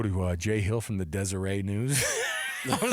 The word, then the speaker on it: Deseret: Jay Hill from the Deseret News. I was like, you've arrived when the T is silent on the Deseret News.